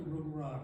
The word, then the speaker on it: Rungrat: Rumrod," I said. "You pronounce my name correctly.